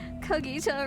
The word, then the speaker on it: Cogito: Cogito rhymes with Nagito.